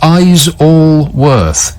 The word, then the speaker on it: Isleworth: Isleworth, which is helpfully written on my screen, pronounced Eyes-all-worth.